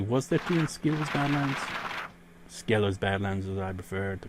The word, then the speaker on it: Skelos: two inch actually what's the teen skills diamonds Skelos Badlands as I prefer to call it but I caught ski lows as well because that's how they pronounce the in-game so I got those did